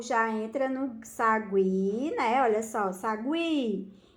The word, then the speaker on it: sagui: como é olha só na palavra Sagui Aí sim olha eu já pronuncio eo Sagui o já entra na pronúncia não é isso aí